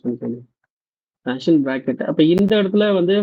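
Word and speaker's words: Paschen: இது பேஷன், இந்த ஷா அந்த டேர்ம் அந்த இதில் நம்ம இது பண்ணிக்க வேண்டியது, ப்ரொனவுன்ஸ் பண்ணிக்க வேண்டியது பேஷன் பிராக்கெட்.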